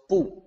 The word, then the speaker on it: 不: It's pronounced bu, like bu, bu.